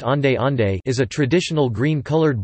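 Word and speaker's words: onde-onde: clapping pronounced clip-on or owned own pronounced on day on day is a traditional green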